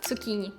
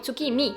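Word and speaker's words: tsukimi: такий прикольчик просто коверкати іноземну мову милування місяцем цукіні ой цукімі мі ц цукімі милування тихими снігами юкімі милування квітами ханамі Геніально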